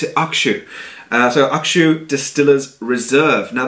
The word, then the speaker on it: Hakushu: Now, you can see over there, some people pronounce it Hakushu, some people pronounce it Hakushu, but the actual official way, according to a few Japanese friends I know, told me to pronounce it Hakushu.